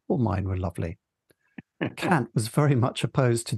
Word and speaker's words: Kant: Yeah, I assume that Kant is one of those words that you referred to earlier that means something different in the real world.